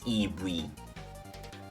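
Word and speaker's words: イーブイ: great great example because everybody knows evie um in in japanese it's ibuy uh because because um that's that's how they pronounce it a banana how am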